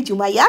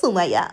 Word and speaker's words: Zumaia: সাধারণত ইংলিশে যদি এই জায়গাটার নাম উচ্চারণ করতে যাই তখন এটা হবে জুমাইয়া। কিন্তু যদি স্প্যানিশ ভাষায় বলতে যাই তখন এটার উচ্চারণ হবে সুমাইয়া। অদ্ভুত না?